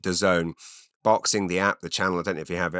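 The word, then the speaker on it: DAZN: in Wembley Stadium and it's on uh Doone that's spelled da a ZN I don't know why it's I've heard them pronounce it Doone boxing the app the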